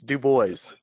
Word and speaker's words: DuBois: know we'll use a dubois regional and and dan and i will debate that's you know if you're from pennsylvania it's pronounced one way if you're not from pennsylvania it's pronounced another just like i i